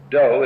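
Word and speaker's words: dō: the philosophy underlying Judo do is the Japanese way of pronouncing the Chinese word da da meaning as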